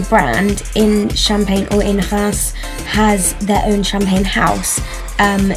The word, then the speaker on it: Reims: And Reims, if I've said that right, that's R-E-I-M-S. My mum told me how to pronounce that because my mum's French. So hopefully that's right.